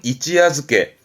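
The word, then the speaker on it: 一夜漬け: 발음은 이찌야즈케 니골이 붙습니다. 땡땡 이찌야즈케.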